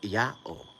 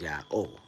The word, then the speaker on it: YAOH: he's like no it it's not pronounced yaho that's not what that says that says yah oh I said are you